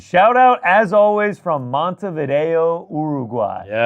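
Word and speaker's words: Montevideo: Shout out as always from Mont Vido Uruguay. Yes. Am I pronouncing that correctly?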